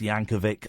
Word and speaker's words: Yankovic: It's a hard C. It's Yankovic.